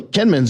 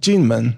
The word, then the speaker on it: Kinmen: And that's the island they pronounce it Jinmen, right? Right. That's right. Yeah, Mm-hmm. that's what I thought. Yeah. I say Kinmen, so if you look it up on the map, because it's spelled with a K in English.